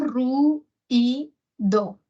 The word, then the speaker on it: ruido: No decimos necesariamente ruido, sino hay algunos hablantes, como yo, que decimos ru y do. O sea, cuando decimos ruido y no decimos ruido, hace mucho ruido.